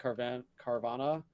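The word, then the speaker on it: Carvanha: I think Carvana, really cool Pokemon.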